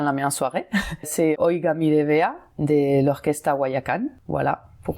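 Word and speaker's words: Oiga, mire, vea: Donc la première, Oiga mi revea, je le prononce mal ?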